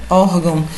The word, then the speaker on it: Órgão: Mesmo porque a sílaba tônica está no or, né? Órgão. Então, aqui acentua-se paroxítona terminada em ão, né?